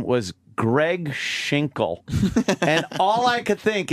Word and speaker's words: Cregg Schinkel: You can't hear that L proper.